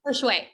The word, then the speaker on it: Hershewe: Hershewe, yes.